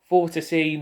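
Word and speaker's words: Vortice: So, it really does remind me of that as well with the Vorticy Nordic fan, which apparently that's how it's pronounced. I just pronounce as Vortis because it sounds better.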